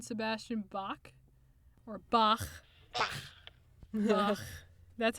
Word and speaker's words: Bach: Bach. That's how you say it, actually. In the German, you say Bach.